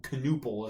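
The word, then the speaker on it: Knueppel: He's And so like Canipple or Canuple is how you should say his name.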